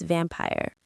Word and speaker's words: vampire: Think of Dracula, a very famous vampire. The stress is on the first syllable, vam. Say it with me. Vampire. It's like ham but with a v. and then py.